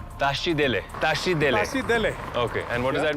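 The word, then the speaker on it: Tashi delek: the morning afternoon or evening yeah you say tashi dele tashi dele tashi and what does that mean like namaste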